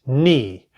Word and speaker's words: knee: K I said KN the K is silent now we have the